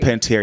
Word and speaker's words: Panettiere: He says Hayden Panettiere. It's Hayden Panettiere, and she's not my top, right?